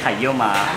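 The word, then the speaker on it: ไข่เยี่ยวม้า: In Thai we say kayoma in Thai.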